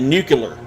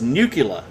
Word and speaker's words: nuclear: He said nuclear. Now, that's one of my pet peeves. People who pronounce nuclear as nucula. As any good Latin scholar will tell you, nucula is Latin for nut.